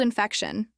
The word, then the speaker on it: infection: Mild infection. Mild rhymes with child, and the stress in infection is on feck.